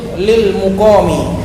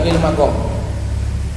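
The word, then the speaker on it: للمقام: Fa innahu hajrun lil muqami, bacanya lil muqam bukan lil maqam.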